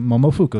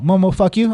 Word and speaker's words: Momofuku: I was like, Momofuku. He's like, oh, Momo, fuck you. I'm like, that's not what I said.